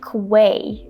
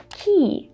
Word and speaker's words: quay: And looking at this word, it's easy to see how many people say Quay instead of key. But the correct pronunciation is key, just like the key you used to open your apartment door.